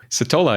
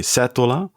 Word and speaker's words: Setola: in your own way citola is the first thing that came to my mind to be honest all right well that's pretty much like dutch people would pronounce it in italy they would say setola yeah yeah in spanish